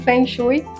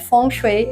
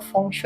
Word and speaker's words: Feng Shui: Mas só uma curiosidade, Fonchet é a pronúncia mais aceita eh no mandarim.